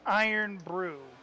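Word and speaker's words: Irn-Bru: It's pronounced Iron Brew. There you go. Iron Brew? That's what Kara's saying. Iron Brew.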